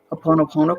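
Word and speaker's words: Hoʻoponopono: But what came to me is if you start saying the Ho'oponopono prayer, I always pronounce that wrong, but you know what I mean. What is it? Please. Oh no. Ho'oponopono.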